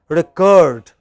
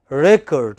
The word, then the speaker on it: record: is it now verb when it is verb it is the second syllable which is stressed recurred but when it is a noun it is the first syllable which is a stressed as noun it is